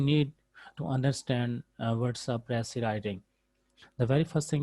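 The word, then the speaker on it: précis: It is pronounced as pressy writing, and the definition of pressy, as it is given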